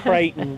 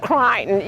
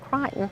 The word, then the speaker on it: Creighton: good I love that we we pronounced it Creighton but it's crying around here that that's only here that it's called Crichton you go anywhere else in the country and you'll hear Creighton but yes they pronounced it Crichton they did and they